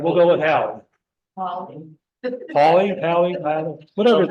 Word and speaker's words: Halley: All right, we'll go with Hallie. Hallie, whatever his name was. We say Haley, in Great Britain, they say Hallie. Okay, but we'll say Hallie then.